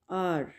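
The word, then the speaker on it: hour: इसमें as silent है, एज की साउंड नहीं होगी, आर।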